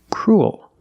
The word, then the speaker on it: cruel: vowel cool oh your mouth opens and you make an extra little sound cruel like pool and cool example this boy is